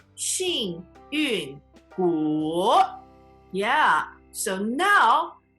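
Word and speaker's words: 幸运骨: So, 幸运骨, fourth tone, third tone. 幸运骨.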